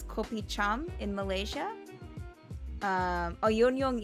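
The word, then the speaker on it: yuenyeung: in malaysia um oh yonyoung is the cantonese language pronunciation uh it's popular in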